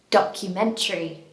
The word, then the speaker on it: documentary: This word is quite commonly mispronounced, I think because it has a lot of syllables, but words that end with T-A-R-Y are often pronounced as tree at the end.